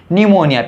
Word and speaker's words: pneumonia: शायद वो N से स्टार्टिंग करेंगे, जबकि ये स्पेलिंग स्टार्ट हो रही है P से। न्यूमोनिया, PNEUMONIA, न्यूमोनिया।